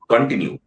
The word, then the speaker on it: continue: You can't say continue अगर मुझे बोलना है तो ड पे उसके स्ट्रेस आता है। It's continue, it's continue।